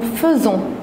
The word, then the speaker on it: faisons: la première chose que pour nous on l'a prononcée faisant pourtant on l'écrit avec happy alors faites attention on dit nous faisons et vous pour le